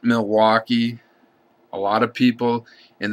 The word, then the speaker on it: Milwaukee: I included it because of the way people on the eastern part of the state pronounce it. It's not Milwaukee. A lot of people in that area just say Milwaukee, Milwaukee, Milwaukee.